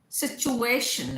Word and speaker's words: situation: बहुत बार एक क्वेश्चन बच्चे पूछते हैं, कैन वी से सिचुएशन? नो, situation is better, situation.